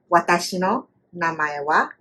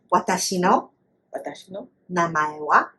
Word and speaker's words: watashi no namae wa: Watashi no namae wa, and then you say your name. Say that again. Watashi no namae wa.